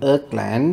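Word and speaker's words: irrKlang: and this library is called Earth land I think that's how it's pronounced it's IR RK Lang so we search for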